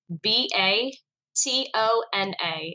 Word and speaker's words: Batona: to start connecting section me how do you spell that b a t o n a it stands for Back to Nature oh batona